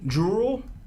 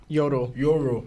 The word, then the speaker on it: Yoru: And then also too we see Jewel. Is that how you say it? Because there's Ja Rule, then there's Jewel. Yoru, right? Just say like Yo Rule, right?